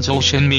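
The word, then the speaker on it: 周炫美: 그 살고 있는 사실이지요 주현미의 중국어 발음은 저우 쉔 매 입니다 주현미 아버지 죽음 분은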